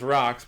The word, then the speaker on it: Roch: They call it's called Rocks, but it's spelled ROCH.